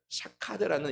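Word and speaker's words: שֹׁקֵד: 보면은 그 샤캐드라는 단어입니다 근데이 샤캐드라는 단어가 어떤 단어랑 유사하게 표현을 한다면 발음을 한다면 바로 지키다라는 단어랑 매우 유사하게 발음을 합니다 아몬드 나무 같은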